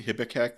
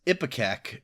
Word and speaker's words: Ipecac: And at the risk of going down a further rabbit hole, isn't Hippocac the stuff that you drink to throw up? That's Ipecac, and is spelled very differently, apparently.